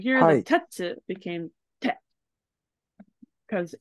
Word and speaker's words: 鉄: It's some retsu. Not Close. retsu. It is tetsu.